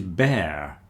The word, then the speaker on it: bear: This is bear. Bear that rhymes with hair. So, it looks similar to number two, beard, but it's not. It's bear. Bear rhymes with hair and there and chair.